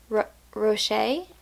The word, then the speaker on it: Roche: with every memory by Janie Roche somebody said it rhymes with crochet so I'm dnfing this